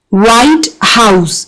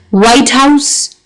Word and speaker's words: White House: We can show the stress pattern of some of the pairs like blackbird. So, blackbird, if it's a phrase, so blackbird, and if it's a one word compound, so blackbird. White house, if it's a compound, whereas white house, if it's a compound word. So putting the stress on the first element only is an indication of